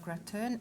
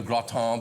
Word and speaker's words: gratin: Today we are preparing a beetroot and cauliflower gratin, a delicious dish for winter, and also very healthy. So we're going to have lots of fun making a gratin because I've seen that word spelled G-R-A-T-I-N and